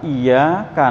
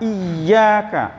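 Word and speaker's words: إِيَّاكَ: Iyyaka na'budu wa iyyaka nasta'in. Iyyaka na'budu wa iyyaka nasta'in. Apa artinya Pak? Hanya kepadamu aku mengabdi dan hanya kepadamu aku mohon pertolongan. Iya ditekan Pak. Iyyaka, nggak boleh iyyaka.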